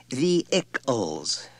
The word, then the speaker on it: vehicles: She said brightly when he had finished reading, It's pronounced vehicles, Richard. No H. Accent on the first syllable.